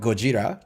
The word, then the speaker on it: Gojira: It's a Japanese pronunciation of the English word.